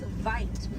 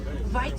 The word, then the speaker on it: wit: Original word for white rhino was vite. Vite means wide in Afrikaans, but over time it was misheard and mispronounced and it turned into the white rhino.